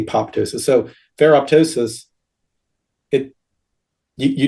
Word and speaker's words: apoptosis: Um so uh the pronouncing the second p apoptosis.